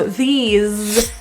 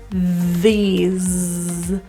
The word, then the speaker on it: these: up with this so these has a zed pronunciation these so add your voicing